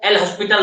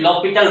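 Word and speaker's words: L'Hôpital: इसको आप अगर बोलचाल के भाषा में बोल दें फ्लो में, तो इसको एल हॉस्पिटल रूल बोल देते थे, एक्चुअली में date is लॉपिटल rule, एल silent हो जाता है, ठीक है, यहाँ पे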